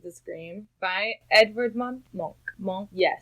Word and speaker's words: Munch: Monk. Yes. Monk. I didn't know it was pronounced that way. We've all been pronouncing it wrong, America. Well, we were all like Edvard Munch.